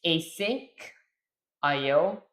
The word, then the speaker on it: asyncio: It's async IO and IO is pronounced separately.